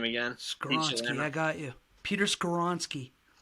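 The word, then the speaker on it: Skoronski: Pronounce the name again. Skoronsky, I got you.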